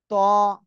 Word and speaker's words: ط: জিহ্বার আগা সামনের উপরে দুই দাঁতের গোড়ার সাথে লাগিয়েও এই অক্ষরটা উচ্চারণ করতে হবে মোটা আওয়াজে।